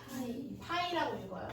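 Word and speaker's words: π: 얘를 읽는 방법은 너네도 알 거예요. 뭐지? 파이라고 읽어요.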